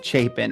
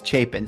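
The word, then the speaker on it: Chapin: and so much more chapen and it is pronounced chapen right people always ask me chapen chapen it's chapen so chapen is a small town right up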